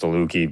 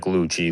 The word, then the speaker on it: Dulucchi: And they'll be like, even though my last name is pronounced to Luki, people will say like luchi luch or stuff like that, you know.